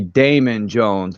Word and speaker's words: Demon Jones: It's supposed to be Damon Jones, but it's spelled Demon.